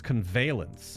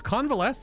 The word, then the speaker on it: convalesce: It's convalence. I pronounced it wrong? Convalesce. No, it's convalesce.